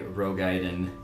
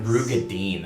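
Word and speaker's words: Roegadyn: I am playing as Skarndrist, and I am a Rogaiden. Or is that how you say it? Nope. Who cares? I don't know how you say it. Rugadin? Close Whatever. Wasn't it Rugadine? Yes. Rugadine.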